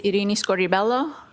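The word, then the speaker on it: Irini Scordi-Bello: My name is Iini Scorelloo. That's spelled I R I N I S C O R D I B E L L O.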